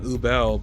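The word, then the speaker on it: Übel: I don't know if their names really sounded all that, because like they pronounce her name Ubel, but at least say Warble is how they pronounce the other one.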